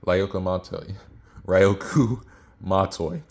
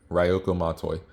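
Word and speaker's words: Ryūko Matoi: language and I don't even know how to pronounce it. It's Ryoku Mat, oh my goodness, Ryoku Matoi. This, in other words, it's the first Kill la Kill chapter, Ryoku Matoi.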